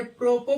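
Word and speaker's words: apropos: हैं इसको एस यहां भी क्या होता है साइलेंट होता है ऐसे ही देखते हैं ए पी आर ओ पी एस य प्रोपो पढ़ते हैं य यहां भी सस गायब होता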